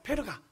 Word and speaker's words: 페르가: 그 밤빌리아 버가에 가는데, 버가라고 우리가 부르는데 실제 이름은 페르가입니다. 페르가. 이 페르가라는 곳에 도착하게 되는데, 페르가가 왜 버가가 됐냐면 페가 P-E-R 발음하다 보니까 퍼퍼하다가 이게 버가가 돼버린 거예요.